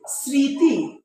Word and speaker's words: স্মৃতি: অফ অল দেখো যে যদি বলি যে এটার উচ্চারণ একটু করো তো যে স্মৃতি নাকি স্মৃতি না স্মৃতি আমরা বলি না আমি কি বলি স্মৃতি তাহলে কি এটা ছ এর মত উচ্চারণ হয় না বাঁশি বাজার মত হয় না আমি কি বলছি যদি ছ এর মত হয় তখন আমরা কি দিব অন্তঃস তাই এটার উচ্চারণ হবেই স্মৃতি আর এখানে একটা চন্দ্রবিন্দু